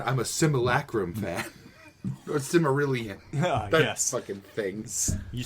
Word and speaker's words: Silmarillion: Or Cimmerillion. Yes. Fucking things. You said it right, though. Silmarillion.